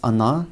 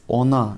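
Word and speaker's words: она: we already talked about this is how to pronounce Ana and Ani can you hear how I pronounce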